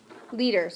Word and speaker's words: liters: unit of capacity spreche liters right good it kind of rhymes with meter so it can be hard